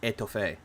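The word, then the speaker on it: étouffée: It's pronounced etouffee, which is actually really good too.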